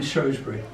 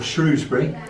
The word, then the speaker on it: Shrewsbury: He was a preacher, Unitarian preacher, and he preached in Taunton, he preached in Bridgewater, and in Shrewsbury, or Shrewsbury, depending on how the football goes.